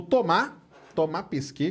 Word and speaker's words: Thomas Pesquet: O Thomas Pesquet, que é o jeito certo de falar, francês, né?